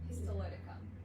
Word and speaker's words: histolyticum: It is collagenase Clostridium histologicum. Did I spell that? Histolyticum. Histolyticum. See, I always, it's the one really big thing.